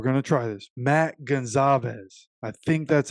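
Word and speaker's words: Goncalves: somebody told me that the C in this name was actually pronounced as a z so we're going to try this Matt Gonzalez I think that's how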